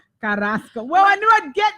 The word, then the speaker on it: Carrasco: So that's Carrasco. Did I say it right? Yes, you said it right. Carrasco.